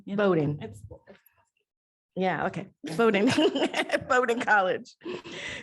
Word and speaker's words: Bowdoin: theater and dance at bulldozing college how they say it actually i say bowdoin boating yeah okay voting voting